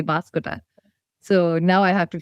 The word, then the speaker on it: Banskota: So it's also funny, Nepali, of course, we say Banskota, and then with the na, because of the Chandra here, it's Banskota.